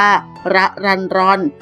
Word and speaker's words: รรรรรร: ชั้น ป 3 เพราะ เห็น ชื่อ แปลก มี รอ เรือ 6 ตัว จึง ถาม น้อง ว่า ชื่อ อ่าน ว่า อย่าง ไร น้อง ก็ บอก ว่า ระ รัน รอน หมาย ถึง ผู้ ที่